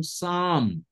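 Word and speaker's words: psalm: সাম পি এস এ এল এম এই শব্দটার উচ্চারণ সাম পি কিন্তু সাইলেন্ট পি এর উচ্চারণটা এখানে সাইলেন্ট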